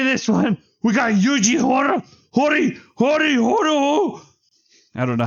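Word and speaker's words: Yuji Horii: And I always call him Yuji Hora. And it's Hori, I believe.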